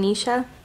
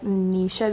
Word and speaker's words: Nish: What's your name, Nisha? My name is Nish. It rhymes with fish.